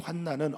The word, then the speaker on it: 환난: 저희 환난이라고 하는 들립시스 제가 이제 발음을 환 아니라고 했습니다 뒤에 리을 환란이 되면 어지럽게 하는 건데요이 환난은 어려움입니다 근심과 어려움이라고 하는이